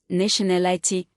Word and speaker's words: nationality: Ity, nationality, weight, nationality, stress on al, responsibility, stress on bi.